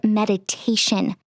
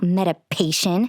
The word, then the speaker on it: meditation: It's called meditation, not medipation. You don't even know how to say it, for God's sake, I said, laughing.